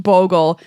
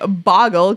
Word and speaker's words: Bogle: up with a wonderful assortment of auras it's pronounced Bogle wow I feel I feel you should feel